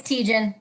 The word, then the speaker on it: Tietjen: Is it Tietjen? Tietjen? It's Tietjen. Yep. Tietjen.